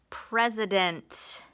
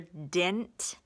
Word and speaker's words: president: P-R-E-S is pres. That's a closed syllable. Is an open syllable exception with a schwa. And dent is a closed syllable with a short E. Dent. You might hear dint, D-I-N-T, but it's D-E-N-T.